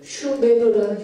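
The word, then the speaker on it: Šumer: 수메르라는 말은 서령 문자 문헌에서는 수가 아니고 슈입니다. 슈메르라는 형태를 취하고 있습니다.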